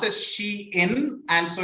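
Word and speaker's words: Shein: maybe maybe chain or something right yeah it's pronounced as she in and so it's a contracted version of she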